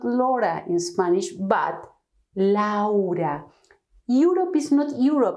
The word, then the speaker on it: Laura: So when we have this in English, we produce a different sound, a new sound. We say Laura, we say Europe, we say, well, 20 is a different word.